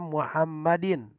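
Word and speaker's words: محمدٍ: Ini dibaca Muhammadin. sebentar. Muhammadin Sayyidina. Sayyidina. Nah, ini dibaca Muhammadin. Oh. Tengah anak tulisannya. Baik. Sayyidina Muhammadin. Ini Muhammadin jadi badal kata Sayyidina sehingga dibacanya Muhammadin.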